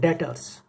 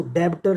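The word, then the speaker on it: debtors: उसके बाद आगे है डेटर्स। इसको डेब्टर नहीं बोलना, डेटर्स, बी साइलेंट है इसके अंदर, थोड़ा ध्यान रखें। जैसे डेट होता है ना, डेट ऋण, उसके अंदर बी साइलेंट होता है, तो डेटर्स।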